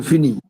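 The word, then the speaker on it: finis: বলবেন জো এর সাথে হবে আই এস ওকে উচ্চারণটা হবে ফিনি আর টু এর সাথে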